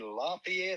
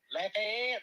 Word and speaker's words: Lafayette: I am in Lafayette, or let me say it like they say it, Lafayette, Louisiana. Lafayette. Oh, so that's just like some people say New Orleans, but it's not New Orleans, it's New Orleans.